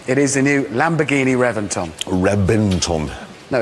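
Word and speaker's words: Reventón: a v Reventon no I know it's spelled with a V but it's pronounced with a B why don't know they've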